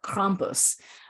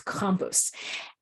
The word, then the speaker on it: Krampus: Krampus excuse me the Krampus I have an Austrian friend who is correcting my pronunciation it's compus um you'll begin to